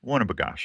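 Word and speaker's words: Winnibigoshish: Winnebagosh.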